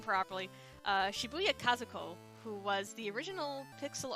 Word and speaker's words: Shibuya Kazuko: well make sure I say her name properly Shibuya Kazuko who was the original pixel artist for Final